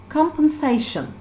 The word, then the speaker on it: compensation: The first noun is compensation. Here the syllable, stress syllable is se.